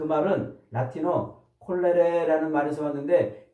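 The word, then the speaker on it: colere: 자, 근데 이제 재미있게도 요 경작, 땅을 경작하다 이 말을 라틴어로 콜레레 이렇게 발음을 하는 말이에요.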